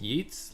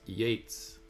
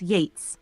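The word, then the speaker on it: Yeats: you is it pronounced yeets like the word beats or is it pronounced Yates like the word gate or Gates it's pronounced Yates like the word Gates ye's last name follows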